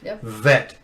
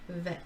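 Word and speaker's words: ב: with friction and so before it was plosive a ba and it's ba this is a this is a fricative letter and it's so you feel the vibration when you're speaking this letter out as a fricative letter that makes sense so say vet vet vet okay so uh there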